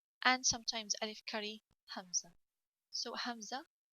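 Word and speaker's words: همزة: and sometimes alif curry hamza so hamza it's written like this it's a bit looks like i so hamza and alif got the same pronunciation so you pronounce alif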